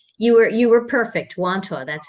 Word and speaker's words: Wantagh: awesome you actually you were you were perfect wanto that's how it feels awesome so what i'd